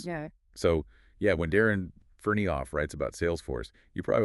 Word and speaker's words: Ferneyhough: Yeah, we've been looking at this really insightful article by Darren Ferneyhough, and just so we get it right, it's pronounced Ferneyhough.